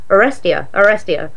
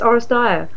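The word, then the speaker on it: Oresteia: I couldn't remember how it's pronounced, and I was like, Orestea. And I was like, no, it's Orestea.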